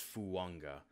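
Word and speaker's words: Fuaga: And I know it sounds like I'm saying that last name wrong. It's not. It's, if you look, you can find an NFL Network clip of him, and it's Fuanga. It doesn't look like it, but that's how it works with some of these Islander names.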